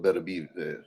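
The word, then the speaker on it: Beterbiev: an unwinable fight I don't see nobody stopping better be that's how you pronounce his name Better B better be who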